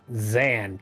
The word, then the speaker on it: Dzan: Weird to pronounce name, I know. Can you say it? Dzan? Yeah, Zan, got it.